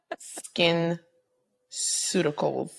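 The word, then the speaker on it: SkinCeuticals: Well, I was corrected recently. Skin Suticals. I liked it with your other way. Soft C.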